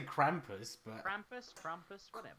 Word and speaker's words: Krampus: figure out a rhombus I say Krampus Krampus rhymes with pompous but obviously a christmas